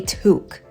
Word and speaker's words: toque: it a a toque even though it looks like it could be pronounced to it is a toque so yes America and